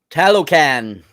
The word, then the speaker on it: Talokan: I just feel stupid even trying to pronounce it. Talokan.